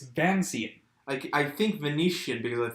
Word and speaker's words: Vancian: It's Vancian, named after Vance, the author who created the system. Okay. It's nothing to do with Italy.